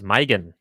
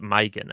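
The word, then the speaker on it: Maigan: yes this is this is mygen megan uh like megan uh it's spelled m-a-i-g my they pronounce it mygen i think mike i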